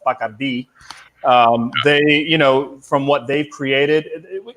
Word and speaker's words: Bacardi: In Spanish, it's pronounced Bacardi.